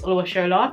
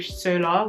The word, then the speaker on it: Oluwashola: So my full first name is Oluwashola. It's not that hard. Like, I understand that some people will mispronounce the Shola part. I've had times in secondary school, in primary school, in college when people called me Sola, which is like, it's how it's spelled, so it's not something to be angry about, an honest mistake.